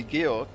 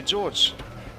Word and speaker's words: Georg: you say my name if you're german you can call me georg and if you're not german you can call me george so my actual name is georg as in the german name georg but jacket flags out a lot of people that are not german having having trouble pronouncing that so i'm fine with george as well if you prefer that tractionless oh how many